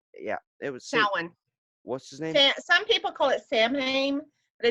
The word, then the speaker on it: Samhain: Patrick or not yeah it was salan Samhain but it's actually pronounced salan well yeah that guy that ran the devil